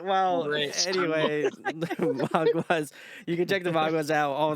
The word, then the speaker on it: Maguas: So I do want to know, how do you pronunciate your bit? Is it the Magus? Maguas.